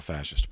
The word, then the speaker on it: fascist: So why that name, National Fascist Party? The word fascist, and that's spelled Fascist, even though it sounds like there should be an H in there, but there's not, fascist.